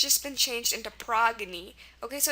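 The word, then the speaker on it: Progne: would say oh maybe it's a French word pronounced prone but it's not it's a Greek word um pronounced progy and that's how it should be pronounced because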